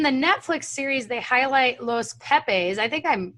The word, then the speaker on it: Los Pepes: So in the Netflix series, they highlight Los Pepes. I think I'm pronouncing that right?